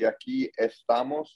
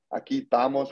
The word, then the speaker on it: aquí estamos: The correct way to say it would be aquí estamos. I cut out the ES, more slang. Aquí estamos, which basically means we are here.